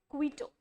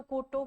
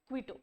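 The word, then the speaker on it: Quito: वैसे अगर आप अलग से पढ़ो तो कोटो कुटो कुछ भी आप पढ़ सकते हो बट साथ-साथ में ही इसे प्रोनाउंस कर दिया करो। क्वीटो इट्स क्वीटो पेरू की जैसे लीमा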